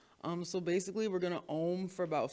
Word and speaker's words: Om: Okay, so we're going to be doing Om chanting today. It's spelled O-M, but it's really pronounced A-U-M.